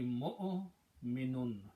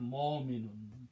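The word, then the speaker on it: مؤمن: The sound will be mu'minun, not mo'minun. Don't pronounce this wow.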